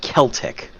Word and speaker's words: Celtic: your C and K's the C Sound used in foreign words in this game in almost every instance is pronounced as a hard c a k sound this is especially important for these words kimri is pronounced kimri and Celtic is pronounced Celtic remember that the Celtics